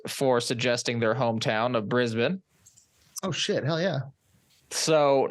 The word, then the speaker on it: Brisbane: And we did Brisbane, is how that's pronounced, last week.